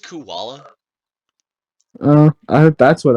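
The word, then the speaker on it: Kuala Lumpur: it's like the different like is that pronounced koala uh I hope that's what I would go with but maybe against uh pagan it's Kula Lumpur yeah that's what I said versus I'm gonna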